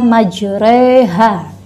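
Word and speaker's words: مجراها: di sana dibaca imalah imalah itu harokat fathah yang bunyinya masuk ke dalam ranah bunyi kasrah makanya kita baca majreha bukanlah jereh ayat bukan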